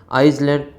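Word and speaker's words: Iceland: इसमें आपको इसका जो आइसलैंड ऐसे बोला जाता है आइसलैंड तो इसका जो उच्चारण हो रहा है वो वोवेल्स में हो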